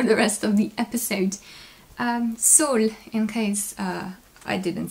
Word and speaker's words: Saule: rest of the episodes Sol in case I didn't say in case you don't remember Sol means Willow and French you are absolutely free to pronounce it like so it's sort of is